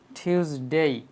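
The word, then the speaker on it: Tuesday: টিউসডে না বলে আমরা বলবো টিউসডে। টির উচ্চারণ আমরা এখানে ঠ করব।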